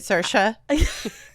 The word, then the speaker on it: Saoirse: And then you said Saoirse, I'm all, yeah, insert. Insert, yeah. I think insert's more Welsh, okay. Actually. Yeah, baby. It's because you're not pronouncing it the Irish way, which is insert.